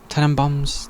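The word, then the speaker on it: Tenenbaums: then I watch the Royal Tenon bounds is how you say it ten and boms ten and boms this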